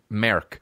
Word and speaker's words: Mark: Another thing about Mark is when he says his fucking name to people, Merk. That's how they say it in Ireland, Merk.